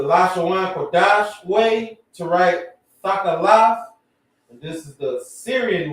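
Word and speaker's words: תכלת: If you're just trying to say blue, Thakalaf. That's how you would pronounce it.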